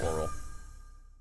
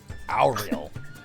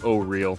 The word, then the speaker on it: Auril: It used to be literally announced oral, but because of this module, they had to rename it to O-Real. Auril, there you go. Auril?